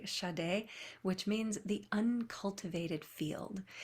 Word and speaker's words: Shaddai: It's spelled S-A-D-E, but with some little characters around it to emphasize the sh and the a, Shaddai, which means the uncultivated field.